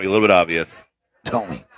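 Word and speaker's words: Thome: Tommy rhymes with homie and has a statue.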